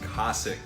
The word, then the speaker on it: Cosaque: all right boys the debate is over it's pronounced Kasich and the way I remember that is the